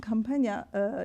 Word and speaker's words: Campagna: She mentioned that Campagna, that's how we pronounce it, Campagna, Gerard Campagna, in 1952, actually, she graduated from a history program here.